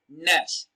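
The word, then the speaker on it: gnash: in nash and mu remember the letter g is silent it is not king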